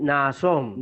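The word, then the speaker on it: Ναασσών: Sí, Naasón. Naasón de Genesen ton Salmón. Ok, Naasón. Tenemos la repetición del alfa. Naasón. 2 sílabas distintas.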